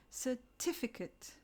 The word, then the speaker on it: certificate: or mate in legitimate we stress the second syllable so we say certificate and legitimate these are often mispronounced